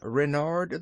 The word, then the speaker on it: Renard: Therefore my official name is King Renard the Fourth. Ren-ard with the accent on the 'Ren'."